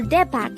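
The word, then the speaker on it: 대박: word number 114 this is a two-syllable word the first syllable is de second syllable is back pronounce it with me back kepak is used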